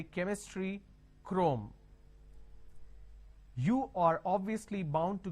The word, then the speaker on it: Chrome: now here this is C HR o m e can I say trome like Google trome no the pronunciation is Google Chrome so when you have